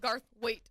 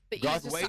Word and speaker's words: Garthwaite: And it's Lauren Garthwaite. There you go. There you go. Garthwaite. Garthwaite. There you go. The E is silent.